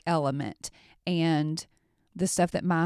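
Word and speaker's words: LMNT: levels of cognitive performance this element it's LM NT that's how it's that's how it's spelled this zero sugar electrolyte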